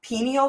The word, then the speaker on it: pineal: to to activate my my pineal gland or pineal gland you can say both pronunciations but um what you